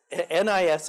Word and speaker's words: NIS: you gotta be careful, it sounds a bit like a sneeze, doesn't it? But it's NIS, I'm sticking to NISGS, okay?